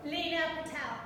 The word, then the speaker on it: Leena Patel: How do you pronounce her? Leena Patel.